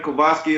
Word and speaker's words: Kovoski: Follow me on Instagram, Kovoski11. Kovoski is I know that's not the standard black person name.